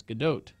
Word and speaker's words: Gadot: It's Gal Gadot, but you still hear the T, so it's Gadot.